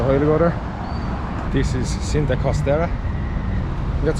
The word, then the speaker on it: Cinta Costera: This is Cinta Costera. That's how you pronounce it.